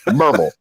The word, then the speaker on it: Maryville: next to us called it's spelled Maryville, but that is not the way that you pronounce it. The way that you pronounce it is take out all of the vowels and some more letters and Merville. I'm like, if you want to know how to say it, spell it MRVL.